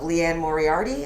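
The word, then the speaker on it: Liane Moriarty: And I kind of fell into the whole of Leanne Moriarty. Am I pronouncing that right? Yeah. That's how you say it, Leanne yeah.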